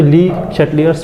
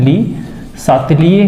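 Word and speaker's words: Le Chatelier: Principal ऐसा लिखा है, पर हिंदी में इसका नाम हो जाता है प्रोनाउंसिएशन वाइज इसको पढ़ते हैं ऐसा है, ली शातलिए का प्रिंसिपल, ली शातलिए का नियम या सिद्धांत। ये लीजिए, ये इसका हिंदी नाम है, ली शातलिए बोलते हैं। ली इसका जो प्रोनाउंसिएशन होता है वो शातलिए होता है, ठीक है।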